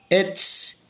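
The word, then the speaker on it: עץ: Vocês lembram que na nossa aula de conhecer as consoantes, o ain como o aleph são consoantes muda. Vai pronunciar apenas a vogal que ela recebe embaixo, gente. Então você vai pronunciar ets, que é a palavra árvore.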